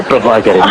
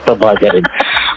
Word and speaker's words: Prabhakaran: Yeah, Prabhakaran. That is correct, Prabhakaran. Many people could not pronounce my name, and they even asked me to change my name.